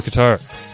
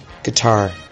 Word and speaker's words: Qatar: of the 2022 world cup here is the pronunciation for guitar guitar guitar there you go give it your best